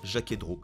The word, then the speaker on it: Jaquet Droz: six ans chaque héros on ne prononce pas le z final et on se retrouve donc avec un jaquet-droz tout simplement la marque